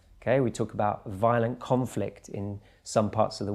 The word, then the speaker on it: conflict: Conflict and conflict. Just one syllable stress and you've got a totally different meaning.